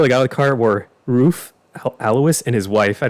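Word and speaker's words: Ruf: thank you for thinking that's pronounced roof okay yeah so the cool thing about this car dylan is that they actually get body and white well that's cool so they'll register them as roof yeah they get their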